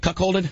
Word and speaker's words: cuckolded: You call it you're a loser, or you call it cuckolded, or whatever you call it. I know what I just can't pronounce. I can't. I will butcher it up. Is it called cuckolded?